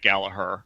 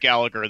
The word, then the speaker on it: Gallagher: suplex City Limits for correcting us all on the pronunciation because there is no such thing as Jack Gallaher but anyways we're coming along with Jack Gallagher the same way burbs